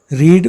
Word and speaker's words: read: लेकिन रीड और रेड इसके मीनिंग में और इसके प्रोनाउंसिएशन में डिफरेंस है। रीड और रेड, रीड माने पढ़ना, रेड माने पढ़ा, लेकिन स्पेलिंग में कोई फ़र्क नहीं होगा। यानी जब हम इसको भले ही चेंज करेंगे तो ये इसकी स्पेलिंग सेम रहेगी, लेकिन जब इसको पढ़ेंगे हम तो रेड पढ़ेंगे और मीनिंग उसका पास्ट